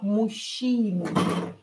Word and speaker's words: мужчины: Here this ж and ча we will pronounce as ща. Мужчины.